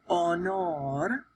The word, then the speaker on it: honor: That H is silent. If you think about the word honor, honor, right? It doesn't sound like honor, but it looks like honor. Then the H doesn't get pronounced.